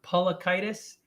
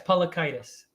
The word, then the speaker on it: Paliukaitis: spell it again say it again uh it's pronounced pollockitis and yes paulakitis there you go you got it that's inflammation